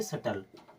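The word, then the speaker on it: subtle: सटल क्या पढ़ेंगे सटल यानी कहीं पर भी किसी भी स्थान पर अगर बी के बाद में टी आ रहा है तो बी हमेशा के लिए साइलेंट हो जाएगा यानी कि बी को नहीं पढ़ा जाएगा अब चलिए देख लेते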